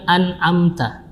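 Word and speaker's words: أنعمت: Siratal ladzina an'amta, membaca lafaz an'amta kita harus berhati-hati pada huruf hamzah. Yang pertama hamzah dalam kondisi di depannya nun sukun an, kemudian dilanjutkan dengan ain, bukan dengan hamzah. Jadi bacanya adalah an'amta, jangan an'amta, jangan an'amta ya. Yang benar adalah an'amta ya, an'amta alaihim.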